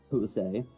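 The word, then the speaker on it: José: They always pronounce it like A, or like a soft E. Like the name like Jose. Like, you don't really hear the E in that. More just like the A.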